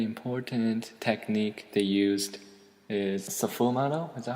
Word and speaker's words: sfumato: Very important technique they used is sfumato. Is that how you say it? Sfumato. Not safu, just fu. Sfumato.